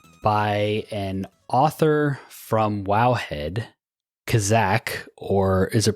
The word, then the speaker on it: Khazak: So like I said before the intro, we are joined on this episode by an author from Wowhead, Khazak, or is it pronounced Kazakh? It's usually pronounced Khazak, but I don't think